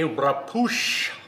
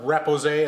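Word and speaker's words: repoussé: the channel today we will be doing a rapoosh project that is taking brass sheet metal in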